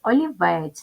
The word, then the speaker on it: олівець: склади познача о лівець ставимо наголос олівець наголос паде на третій склад називаємо приголосні звуки перший